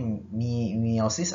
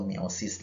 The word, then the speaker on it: meiosis: adalah pembelahan meiosis atau tulisan meiosis dibacanya Mimi OSIS atau meiosis lah ya boleh ya bisa meiosis atau meiosis juga boleh nah Berarti pembelahan itu